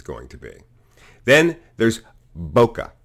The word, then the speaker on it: bokeh: really bad mocha bouquet bokeh bouquet bouquet it's pronounced bokeh not bouquet and not bokeh but